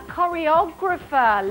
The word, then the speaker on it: choreographer: A choreographer, lovely. Silent H there, not what I'm looking for though.